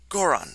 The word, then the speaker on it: Goron: gorgon exactly i can't i can't remember how i pronounce it goron that's what it is goron i don't know